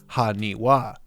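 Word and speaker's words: 埴輪: This could be a bit of fun Japanese wordplay, as in Japanese, 828 can be pronounced haniwa, as the number 8 can sometimes be read as ha or wa.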